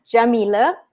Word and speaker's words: Yamile: Anyway, so my name is Yamile. That's how you pronounce it.